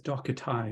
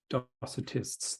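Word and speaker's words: Docetae: epiphanias and the docketime I will pronounce it as dokatai not docitists they are quite different now when one examines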